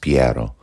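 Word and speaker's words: Piero: of power all right I guess his name would have been pronounced piado but he found himself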